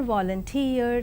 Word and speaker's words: volunteer: And now the words stress, the words ending with suffix ee, eer and air are stressed on the the syllable itself, that is payee, addressee, employee, absentee. And engineer, volunteer, career, mountaineer, millionaire and questionnaire. And let us see accent in the compound words.